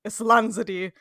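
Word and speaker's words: Islanzadí: We also hear a little bit about the magic Varden twins, Islanzadi, I just looked up the pronunciation. Islanzadi, the elf queen.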